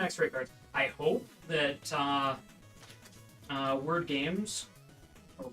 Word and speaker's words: Wyrd: I hope that Word Games or Weird Games, however they want to pronounce that. It's WYRD, so it could be That's- either. It's weird. It's weird.